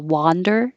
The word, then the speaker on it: wander: i wonder where i'll wander today wander is an ah so again ah lower your jaw much more open wander wonder could be